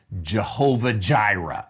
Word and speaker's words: Jehovah Jireh: name of that place jehovah jireh is how we pronounce it in english now remember that in english we uh we we use a sound even that j is not a hebrew sound so it is the